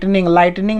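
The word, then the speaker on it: lightning: यहाँ पे GH silence word है, क्योंकि एक नियम है कि जब भी GHT एक साथ हो तो वहाँ पे GH का उच्चारण नहीं होता, वो साइलेंस हो जाता है ना।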